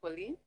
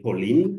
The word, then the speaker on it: Pauline: So first, my name is pronounced Paulin, but I'm glad you are calling me Pauline because that you are adding an E, and it's my late sister who was called Pauline.